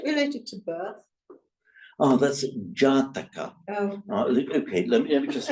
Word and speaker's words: Jataka: I mean, Natar, or how do you pronounce that? Nyata. N-A-T-A. Nyataka. Nyataka. Is it related to birth? Oh, that's Jataka.